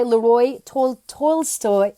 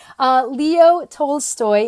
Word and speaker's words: Leo Tolstoy: to share with you so one is by Lee Roy told Tolstoy look if you say it leo oh my god I've seen the name wrong hey Murad's welcome leo tolstoy and he says the two most most powerful